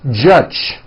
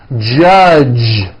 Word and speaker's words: judge: the word judge as judge turning that last sound into an unvoiced CH judge and that is not right the J sound in American English is always voiced J J judge like that for you